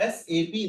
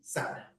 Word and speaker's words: SAP: तो अब इसका करेक्ट प्रोनाउंसिएशन क्या रहेगा? एसएपी, ना कि सैप।